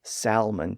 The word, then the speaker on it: salmon: some people may say salmon today thanks to the revised spelling but the standard pronunciation omits the L Sound which was the way the word was borrowed from French now again when we